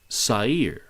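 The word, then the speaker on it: שָׂעִיר: is the hebrew word sair it's actually pronounced with a little bit of a roll on the r so i guess you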